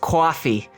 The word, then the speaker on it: Ko-fi: also have a coffee kofi still don't know how to say it we're gonna come no we're locking it in right now it's ko-fi it's pronounced coffee coffee all right we have